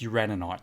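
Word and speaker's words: Uraninite: hardened one requires oh it's uranuite sorry i've been saying it wrong you ran a knight there's an extra in in it my bad it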